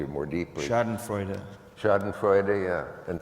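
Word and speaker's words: Schadenfreude: more deeply sh Freud shod and Freud yeah and thank you making it four syllables and not shod and Freud the way you hear it all the time anyway so when someone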